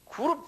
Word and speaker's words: 그룹: 본래 원어도 그룹이라고 이렇게 발음이 돼요. 그룹.